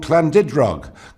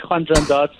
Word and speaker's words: Llandudrog: You didn't get it quite right. It's Llandudrog.